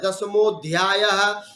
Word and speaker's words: दशमोध्याय: हम लोग अ करेंगे क्या नहीं करना चाहिए वहां पर अ साइलेंट रहता है जैसे पढ़ते हैं ना दशमोध्याय दशमो अध्याय बोलते हैं दशमो दशमोध्याय जो दशमो